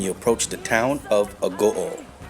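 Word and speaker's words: Agoo: You know when you're near the town of Oringai is when you approach the town of Ago. Sounds like au but pronounced a go.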